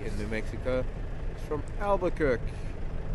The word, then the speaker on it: Albuquerque: And then our newer Jody in New Mexico is from Albuquerque. How do we pronounce that? Albuquerque.